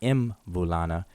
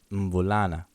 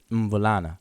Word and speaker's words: mvulana: But it's not mvulana, it's mvulana. Mvulana. So you start with your mouth closed, mvulana.